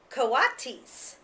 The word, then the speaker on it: coatis: These are coatis, Miss Brisbane said, reading from the letter, pronounced co-a-tis.